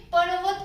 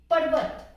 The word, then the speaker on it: पर्वत: तो यहाँ पे पर्वत हमें ऐसे बोलना है, पर्वत कर्म धर्म, ना कि धर्म और कर्म पढ़ना है हमें।